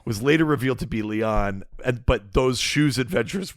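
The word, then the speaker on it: Lian: like a or Leon it's like a East Asian pronunciation it's spelled like l i a an but it's like Leon Harper oh Leon okay um this is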